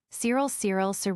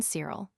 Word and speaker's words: Cyril: The Welsh had it as Giriol, which really is nearer the pronunciation than our own Cyril, with a soft C.